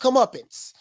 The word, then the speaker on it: comeuppance: a pronouncer come up it's it's pronounced comeuppance comeuppance now i thought come up